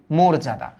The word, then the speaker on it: মর্যাদা: বলি ভবিষ ভবিষ ভবিষৎ এটা কি মোরজাদা মোরজাদা মোর আমরা বলি মর্যাদা একচুি উচ্চারণটা মোরজাদা ওকে মোরজাদা আরেকটু আছে দেখ